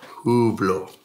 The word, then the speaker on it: Hublot: Is Hublot the official Swiss pronunciation? Hublot. Hublot. Hublot. So I'll just pull them all out so you can have a look. How do you say it properly then, Harry? I would go with Hublot.